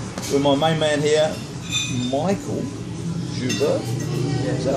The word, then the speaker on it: Mikal: closer than personal we're my main man here Michael Juber is that how we pronounce it but it's spelled Mel but pronounced Michael now got to know everybody calls you